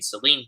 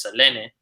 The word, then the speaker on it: Selene: That's actually how you pronounce. I've been saying Celine. It's Selene.